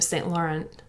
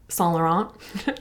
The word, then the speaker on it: Saint Laurent: is a blouse from saint laurent son laurent sorry i did take french sometimes i lose control of my pronunciation you can see this